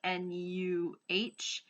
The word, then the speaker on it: no: I gathered up um is actually sort of pronounced know like in Jamaican like nuh and it's supposed to